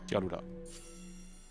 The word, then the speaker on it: Tialuda: Tialuda. That's how you say it, fast like that.